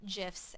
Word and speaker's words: GIF: The thing about sharing memes and GIFs, and yes, I do pronounce it GIF because it's a whole nother can of worms,